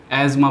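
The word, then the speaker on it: asthma: है, उसको बोलते हैं अस्थमा, ठीक है, लेकिन इसको अस्थमा ना बोल के आप एज़मा बोलिए। क्या बोलिए? एज़मा, ठीक है, इसका सही उच्चारण जो है वो है एज़मा, ठीक है।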